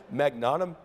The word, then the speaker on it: magnetometer: You connected that to data because you went out and bought a, how do you say this, magnetometer?